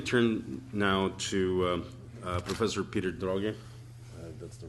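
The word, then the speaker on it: Droege: Let me turn now to Professor Peter Droge. That's the right pronunciation.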